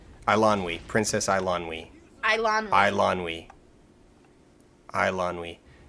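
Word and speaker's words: Eilonwy: The I is before the L, and it says that it is Islandwy, like Islandwy. Islandwy. Islandwy. Princess I'm pulling up this actual Princess pronunciation.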